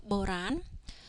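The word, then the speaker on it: បុរាណ: So the second syllable here, rosra here, needs to follow the first syllable, which is the reason why rosra is pronounced ra as opposed to ria. Okay, so boran, da with this diacritic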